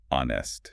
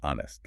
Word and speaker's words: honest: We do not say honest. Yeah, we say honest like the word on.